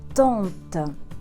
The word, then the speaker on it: tante: La tante. Regardez, c'est A, mais ça se prononce plutôt vers le O.